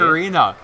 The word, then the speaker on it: ocarina: That's how the It's Italians say it. Ocarina. No. See, man. See, you got to say it like the Italians.